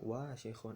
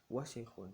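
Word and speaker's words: وسخ: Nah ini sering salah ya, jangan dibaca wasikhun atau wasikhun, jangan. Yang betul adalah semuanya pendek, wa-nya pendek, sin-nya pendek, kho-nya pendek ya. Kalau semuanya pendek, fokus penekanan ketika kita membacanya ada di huruf pertama, ada di huruf waw. Jadi wasikhun ditekanin di huruf waw-nya, wasikhun gitu ya.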